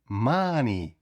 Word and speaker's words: money: Якщо в нас літера О стоїть перед н, то вона вимовляється як звук а. Money, mon а не о не оу, не а.